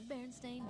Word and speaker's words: Berenstain: Berenstain Bears. Let's see how they pronounce it. The Berenstain Bears. Ah, they pronounce it Stain.